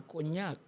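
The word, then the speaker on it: cognac: de los franceses que se llama coñac y se escribe c o g n a y terminado en c. En francés también GN dañe.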